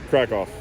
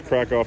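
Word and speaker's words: Kraków: has to do with crack off I've been told this crack off not percal I've been pronouncing it wrong the whole time so the whole state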